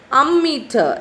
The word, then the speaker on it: ammeter: amount of electric charge ammeter how do you pronounce this ammeter a-m-m-e-t-e-r ammeter so this is the picture of